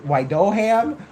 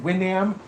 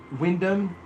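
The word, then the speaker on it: Wyndham: Wido Widhham. Why? Why does it Why is it giving me Wyoming vibes? It's pronounced Windam. Windom.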